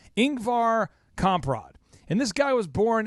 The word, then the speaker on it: Ingvar Kamprad: there and it'll play his name but it's Inc var comp rod and this guy was born in 1926 and